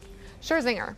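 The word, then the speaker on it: Scherzinger: person that mattered nicole say it sure zinger that's how you say it pulled the plug on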